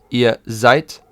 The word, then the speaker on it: seid: And maybe you hear when I'm saying this that the D at the end is actually sounding like a soft T, and it's true. So you would say, wir sind, ihr seid, sie sind.